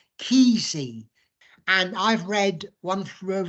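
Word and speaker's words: Kesey: a guy called Ken I think you pronounce his name keezy and I've read one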